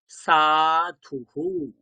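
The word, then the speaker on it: সাধুঃ: উ, হ মানে হু, কি হয়ে যাবে? হু। তাহলে উচ্চারণ কেমন হবে? সাধুহু। কি উচ্চারণ হবে? সাধুহু।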